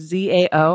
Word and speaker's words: Zao: or pronounce um it's Zao and I tell people Z it rhymes with wow yeah yeah me me